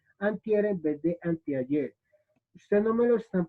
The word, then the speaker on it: anteayer: antier en vez de anteayer. Ustedes no me lo están preguntando, pero nosotros a veces pronunciamos de esta manera. ¿Listo? Anteayer y es antier.